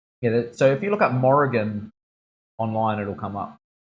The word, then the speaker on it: Morrigan: Yeah, so this piece is based off the, how do you pronounce it? Morrigan.